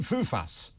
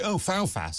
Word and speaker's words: Fufas: And, but see, at least that's phonetic. So you say Fufas, you always think it's spelled F-O-U-F-A-S. No, people think it's spelled F-O-O-F-A-S. Because Fufas. They always say, Foulfas. I say, no, Fufas.